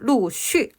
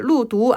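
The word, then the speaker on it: 陆续: 점차적으로 다 갖춰졌다는 거죠 루쉬입니다 발음 루쉬 루쉬 발음 주의해 주시고요 루두 아니에요 루쉬 끊임없이 계속해서라는 변화하는 상태를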